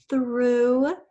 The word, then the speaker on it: through: Through. This is the oo sound in this short word, like I threw the paper away.